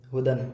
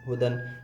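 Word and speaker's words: هُدًى: بھی حرف نہیں ہے، یا ہے لیکن یا پڑھا نہیں جاتا، ہجے کریں گے تو ہا پیش ہو دال 2 زبر دن ہدن، یا پڑھا نہیں جاتا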